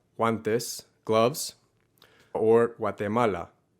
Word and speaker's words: Guatemala: this gloves or guatemala it's not a har g in these cases it is a soft g that happens kind of in the back of your throat and again in many varieties of spanish it's omitted entirely and sounds more like a w and tip number three